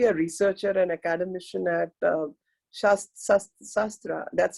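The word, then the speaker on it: SASTRA: And Sasikala Devi, a researcher and academician at Shastra, that's how you pronounce, Shastra University, deemed to be a university in Tamil Nadu.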